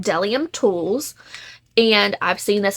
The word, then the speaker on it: Bdellium: that it is pronounced delium the B is silent the double Dome is